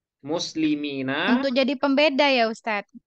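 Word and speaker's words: مسلمين: Kalau yaknya sukun, kemudian sesudahnya kasroh, nah itu musanna, Bu. Nah, Tapi kalau yang Ina, sesudah yaknya fathah, nah berarti itu jamak mudzakkar salim. Nah, jadi hati-hati cara bacanya ya.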